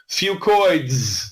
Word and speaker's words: fucoids: Fucoids. Say that 10 times fast. I call it Fucoid Z because that's easier to pronounce. But really, the correct way to say it is Fucoids.